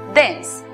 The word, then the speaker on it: dense: tiempo es saber que la E al final de las palabras es muda, como ocurre en la palabra vida, que se pronuncia life, o en la palabra denso, que se pronuncia dense.